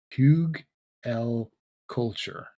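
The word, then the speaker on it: Hugelkultur: k u l t u r so english pronunciation will be pug l culture okay and what it is is it's a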